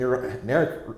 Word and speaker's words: Narek: I mean, Narek rhymes with Garrick.